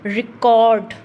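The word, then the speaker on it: record: यहाँ पर इसकी साउंड क्या रहेगी, यहाँ पर इसकी साउंड रहेगी रिकॉर्ड, रिकॉर्ड। कोड को हम लॉन्गर लेके जा रहे हैं, तो कोड पर क्या है, स्ट्रेस जा रहा है।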